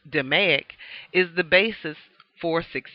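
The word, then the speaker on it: DMAIC: repetitive or continuous production DM AIC C pronounced demic is the basis for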